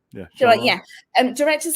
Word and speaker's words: Shyamalan: Night Shyamalan? Yeah. Shyamalan.